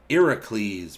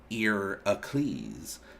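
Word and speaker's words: Ἡρακλῆς: be into watching more in greek heracles is irocles pronounced ear ecleese that's where uh heracles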